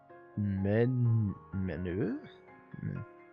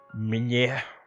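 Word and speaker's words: meunière: Manure? How do you pronounce that?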